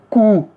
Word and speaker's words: cou: Le “o” et le “u”, Là, c'est le son (ou). Le cou.